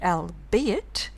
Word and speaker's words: albeit: The archaic word albeit does not rhyme with eight.